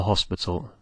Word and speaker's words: hospital: try that one and don't pronounce the h in Spanish the H is silent so try a hospital now of course not